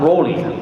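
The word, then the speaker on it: Rawly: be pronounced differently, because he spells his name R-A-W-L-Y, but we still call him Raleigh. Yeah, but I call him Raleigh. You call him Raleigh? Raleigh. I call him Rolly.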